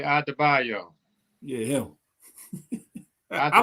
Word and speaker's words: Adebayo: He done broke the syllables down. Okay, Adebayo.